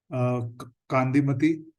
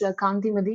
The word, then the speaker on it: Kanti Madi: After that, we have Kandimati. I'm hoping I'm pronouncing name correctly. Hi, Hi, Mohit. Yeah, it's Kanti Madi.